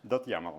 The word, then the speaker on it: YAML: public code do yml yaml yeah yaml yeah yam that's the right pronunciation need to know how